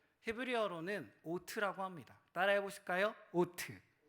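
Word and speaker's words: אות: 줍니다이 표적이란 하은 히브리어로는 트라고 합니다 따라해 보실까요 오트 발음이 좋으십니다 헬라어로는 세메이온이라고 합니다 해보실까요 세메이온 메 놀랍지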